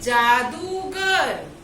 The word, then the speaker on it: जादूगर: तो जादूगर का उच्चारण जब हम करते हैं तो द के ऊपर कौन सी मात्रा लगी है? दीर्घ ऊ की। जादू। और कैसे इसको बोलेंगे? जादूगर।